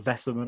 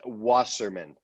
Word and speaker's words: Wasserman: Is it Wesser or Vesserman? I just wanted to. It's Wasserman. See, wasn't any of them.